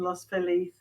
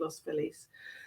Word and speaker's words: Los Feliz: feliz sorry we said i would say as an english person lost philly or spanish but it's they pronounce it los police um so yeah and